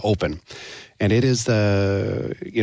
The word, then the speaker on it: OPN: from mocon is called open m and it's spelled OPN but we we pronounce it uh open and it is the